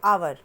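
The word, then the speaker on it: hour: तो यहाँ देखिए, एच क्या है, ये वॉवेल तो नहीं है, ये तो कॉन्सोनेंट है, पर इसका साउंड क्या हो रहा है, आवर।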